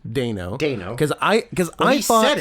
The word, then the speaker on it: Dano: It is pronounced Dano.